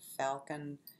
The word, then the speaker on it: falchion: And one of them is line 506, 509, is falcon, the bird, and falcon, it's spelled falchion, which is a kind of sword.